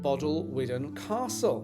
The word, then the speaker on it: Bodelwyddan Castle: But first, let me give you some history of Bodelwyddan Castle, which is how I learned to pronounce it.